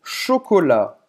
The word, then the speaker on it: chocolat: Pode ser também de chocolate, Une tartelette au chocolat. Chocolate em francês é chocolat. Você vai ter o T no final, mas não se pronuncia.